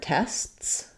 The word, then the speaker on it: tests: So if I'm saying the word tests, I have to do st, or it would just sound like tests. So the S has to stop. The rule of 3 in a way applies a little bit because my T is not released.